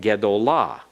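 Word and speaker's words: גְּדוֹלָה: But if we add a feminine singular suffix to it so that it can modify a feminine singular noun, it would actually be gadolah. But ga is the third syllable back from the accented syllable. Therefore, it will have to be shortened so that what you would expect to be the comments that you see in gadol changes to a schwa in gedolah because of that rule.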